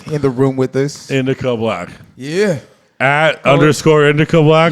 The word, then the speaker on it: Indikca Blk: Anyway, we got Indikca Sorry, Black. I had it wrong. Thank you. We got Indikca Black here in the room with us. Indikca Black.